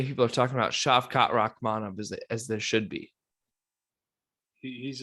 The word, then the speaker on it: Rakhmonov: Is that how you pronounce it? Yeah, Shavkat Rakhmonov.